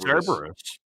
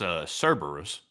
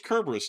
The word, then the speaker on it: Cerberus: Cerberus. So, it's it's not the K, it's Cberus. I thought it was Cerus the whole time.